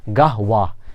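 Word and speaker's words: قهوة: শব্দটি ছিল কিন্তু বলা হয় বলা হচ্ছে কি গাহওয়া এই যে কুলতু আমি বললাম এটাকে বলা হয়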